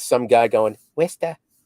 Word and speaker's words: Worcester: But for the longest time, I knew it was Worcester.